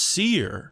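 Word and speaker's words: Cyr: anyway take it easy pretty people oh it's pronounced seer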